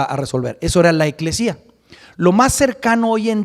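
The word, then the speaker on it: ἐκκλησία: En griego es eclesía. Así se dice en el griego, se escribe en el griego, eclesía.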